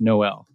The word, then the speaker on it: Noel: back, says, "That's me," and it's pronounced Noel. For those who can't see, Elaine is doing a face palm. So yes, Noel, get it? There's no L.